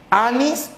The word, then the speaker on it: anís: ¿Anís o anís? Tomó anís. No, tomó anís. Por lo tanto, la sílaba tiene mayor sonido. El acento está en nis.